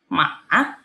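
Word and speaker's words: 马: Cara bacanya gimana nada ketiga, teman-teman? Maah, gitu ya.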